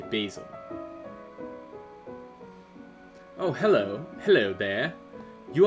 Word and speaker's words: Basil: I say Basil, but that could just be me being an American. I have heard in media it pronounces Basil before, but I say Basil.